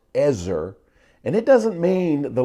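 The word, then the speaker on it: עזר: Hebrew word for helper it's the Hebrew word pronounced Ezzor and it doesn't mean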